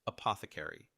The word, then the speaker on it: apothecary: It's pronounced apothecary. Here's how it breaks down. Uh like the a in sofa. Path like the path in hypothesis.